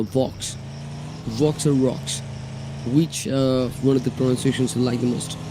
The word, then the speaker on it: Vox: Sometimes it feels like I'm saying rocks. Rocks, no, Vox.